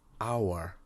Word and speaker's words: hour: university an umbrella an hour because the h is silent as well okay so it needs